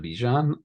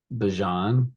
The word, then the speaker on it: Bijan: a little bit of Bijan I would not be shocked or Bajan as he uh recently came out and said that everyone including himself has been saying his name wrong I don't know if